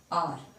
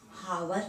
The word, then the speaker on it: hour: इसको हम हावर नहीं पढ़ते हैं, यहाँ H है लेकिन ये साइलेंट में है, इसको हम पढ़ते हैं आर।